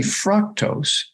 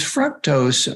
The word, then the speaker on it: fructose: sugar they should study fructose because fructose or fructose those different pronunciations literally affects the nucleus